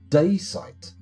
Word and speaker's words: dacite: Wiki has a pronunciation on most of their articles and they say daysite.